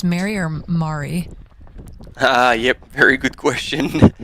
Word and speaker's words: Marie: Jonas he likes like it's Marie so more like the French pronunciation yeah Mari awesome we'll be keeping